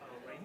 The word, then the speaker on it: Rain: Rain is like the weather.